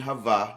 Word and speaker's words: Hava: The first question Elohim asked Adam and Hava, that's how you say it in Hebrew, Adam and Eve, he says, where are you?